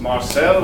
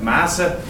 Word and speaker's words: Marcel: Hello everyone, my name is Marcel, or how we say in Switzerland, Masse. Very difficult to pronounce.